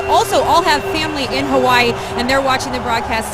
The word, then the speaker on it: Hawaii: Just want to say aloha to everyone, and I think Audra mentioned the right way to say Hawaii is Hawaii.